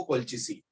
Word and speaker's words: colchicine: That is नॉट कैल्चिसिन, that is कोल्चिसिन.